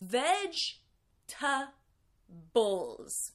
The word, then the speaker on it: vegetables: people say they're vegetables veg tough bowls it seems like I'm skipping a syllable right but this is how native English speakers say it by the way